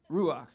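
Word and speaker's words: רוח: pretty much hebrew so the way you pronounce that is ruach right yeah okay so you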